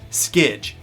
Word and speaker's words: SKJ: with the first bike, the SKJ, pronounced Skidge, from 2014.